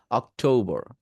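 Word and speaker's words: October: আছে সেটাকে ও করবেন অক্টোবর অক্টোবর অক্টোবর বুঝতে পারছি টো এটাকে সুন্দর করে প্রোনাউন্স করবেন অক্টোবর অক শব্দটা দ্রুত বলবেন অক তারপরে টো তারপরে বর অক্টোবর অক্টোবর বুঝতে পারছি এরপরে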